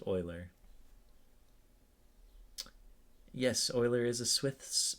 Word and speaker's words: Euler: It looked like it looks like Euler, but it's actually pronounced Euler.